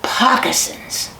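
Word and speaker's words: pocosin: in there today, and they rhyme with moccasins. Their name for those places are pockasins.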